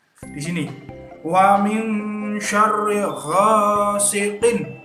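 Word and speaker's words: غَاسِقٍ: Di sini wa min syarri ghasiqin. Nah, itu dibaca jelas. Siqin idza. Nah, begitu. Jangan wa min syarri ghasiqin. Jangan begitu. Ya, itu salah. Harus jelas karena idhar halqi.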